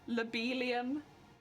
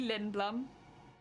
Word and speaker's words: Lindblum: Same with, like, Lobelium, which is meant to be Lindblum.